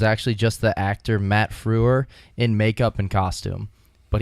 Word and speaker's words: Frewer: wait fir Matt Frewer is it spelled like how people call like Hitler the Fuhrer's like that no fre wer nope the one word